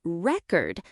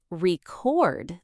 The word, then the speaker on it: record: For example, in the word record, the stress changes depending on whether you're using it as a noun or a verb. I listened to the record with stress on the first syllable. But I need to record this conversation with stress on the second syllable.